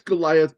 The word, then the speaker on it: Goliath: So, it is three syllables. Go li ath.